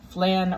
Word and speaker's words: flan: i can't help it flan rhymes with can it's spelled the same way you can make flan